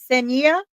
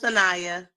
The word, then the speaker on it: Sanaya: A voice for the lost says that is it Senia? Is that it? I don't want to pronounce it wrong. It's okay. It's Sanaya. Tonight.